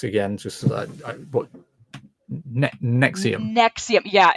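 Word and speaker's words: NXIVM: just what NE Nexium Nexium yeah and it's spelled weird it's like n oh geez n it's not like NX IU M it's like NX i v m no what I come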